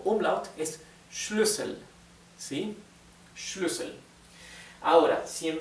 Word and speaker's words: Schlüssel: Sin embargo, como en vez de una SZ tenemos una doble S, es una U corta.